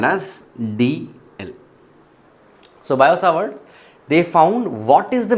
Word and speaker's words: Biot-Savart: called as Biot-Savart Law, or it is called as Bio-Savart Law also. So some places they will pronounce it as Bio-Savart's Law.